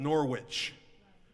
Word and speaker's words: Norwich: It's spelled Norwich, but they pronounce it Norwich, and it's where that they make that Coles mustard.